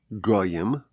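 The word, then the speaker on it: גוים: So the word is pronounced as goim nations but the word is spelled as gaim proud ones.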